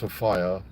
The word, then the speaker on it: Sophia: Just like I found out, you know, Sof Sophia Miles is actually pronounced Sopia.